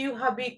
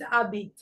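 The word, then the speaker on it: habite: a beat usually like when you have letter H in the beginning of the sentence you don't pronounce it so you you don't say shab t habit no it's Abit shab Abit when take ver a shame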